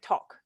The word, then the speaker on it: talk: It's a long sound, not a short sound. So I'm hearing talk. It's not talk, it's talk.